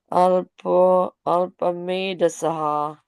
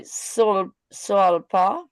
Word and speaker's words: अल्पमेधसः: Tatha saptadashe jataha satyavatyam parasharat chakre vedataruh sakha drishtva pumso alpamedasaha. Very nice. Thank you, Mataji. Gauringi Mataji, Can please. you not say solpa? No, Solpa? Pumso Alpamedasa.